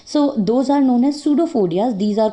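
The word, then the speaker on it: pseudopodia: Okay, so those are known as pseudophodias. These are called pseudophodias, and which are known as false feet. Pseudo means false and podia means feet. Okay, here p is silent, so we call it pseudophodia.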